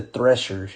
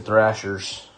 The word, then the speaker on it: Threshers: Is it the Thrashers or the Threshers? It's the Threshers, yeah. Clearwater Threshers. I wonder if they pronounce it Thrashers. They spell it with an E.